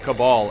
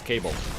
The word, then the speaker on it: cabal: am curious as to how many people pronounce the quest cabal as cable by the looks of